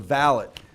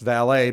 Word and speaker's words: valet: The valet should be pronounced valet, but we pronounce it valet in horse racing.